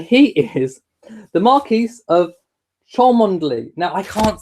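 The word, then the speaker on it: Cholmondeley: so no try again the Marquis of charm unduly spelt CH o L M o n de le white you try it now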